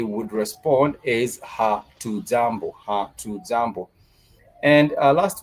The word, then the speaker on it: jambo: Jambo has two syllables. The syllable ja and mbo.